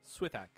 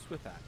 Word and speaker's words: wtih: I go with wtih. wtih, I like that. Yeah. I think it's a very American approach to pronunciation. wtih. So say all the letters. wtih. Yeah. Wait, you're skipping the H, no? That's the sound that TH makes.